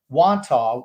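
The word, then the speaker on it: Wantagh: because they've been brought up before and i pronounced them wanto which is where um my mother and father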